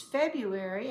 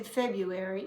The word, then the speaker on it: February: of January if it's February and notice there's an r in it but we don't usually pronounce it because it's hard so we say February instead of February it's